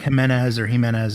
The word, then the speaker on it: Jimenez: It's a silent J. It's like Jimenez or however you want to say it.